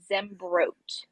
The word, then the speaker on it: Zembroke: everybody that doesn't know how to pronounce my last name it's zembroke so bro but yes zebra